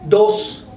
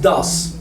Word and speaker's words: does: No es dos. Porque mucha gente dice dos. No es dos, es da. Vamos a abrir un poco más la boca de lo normal. Da. Y entonces pronunciamos does.